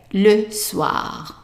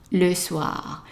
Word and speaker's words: soir: Now the next word is the evening, and the evening we have an OI here that is pronounced as an wa, right? So how would you pronounce the word here? Right, le soir, le soir.